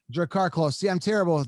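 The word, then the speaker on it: Drakkar Klose: Draker Klaus, am I pronouncing that right? Drakkar Close. Drakkar Close.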